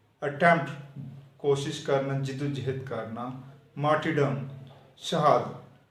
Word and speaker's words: martyrdom: Defence, दफा, brave बहादुर, attempt कोशिश करना, जिद्दोजहद करना, मार्टिडम शहादत। यहाँ पर आर साइलेंट है, ये लिखा तो जाएगा लेकिन पढ़ा नहीं जाएगा। इसके बाद वर्ड आता है